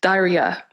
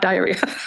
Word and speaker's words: Dhairya: The third, inner strength, Dhairya, not diarrhea. Phoebe can help me with the pronunciation. Duh. Whatever he said. Daria, right?